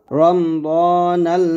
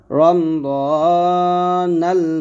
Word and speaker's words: রমদানাল: আর বলেন আমার সাথে নাওয়াইতু আন আসুমা গাদাম মিন শাহরি রমদানাল মুবারাক, রমদানাল মুবারাক। এখানে দেখুন রমাদান লাগছে যদিও, তো এখানে আরবি উচ্চারণ হলো দেখুন রমদানাল, আর এখানে আছে রমাদানাল। তো রমাদানা বলে রমদানাল বলবেন, ঠিক আছে।